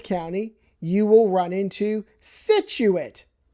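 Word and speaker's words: Scituate: And then a little further out on the coast there in Plymouth County, you will run into Situit. It's not skituate or skituate or situate. It's situate situate.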